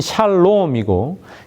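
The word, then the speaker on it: שלום: 평화는 샬롬이고 지불하다는 샬렘이라고 발음합니다.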